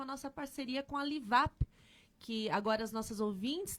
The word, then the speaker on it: Livup: Lembrando que Livap se escreve L-I-V-U-P, se escreve Livup, mas se lê Livap.